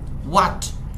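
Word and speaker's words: what: মানে কি আলোচনা করতে হোয়াট এটার উচ্চারণ কিন্তু হোট হবে না এটা বলবো হোয়াট দে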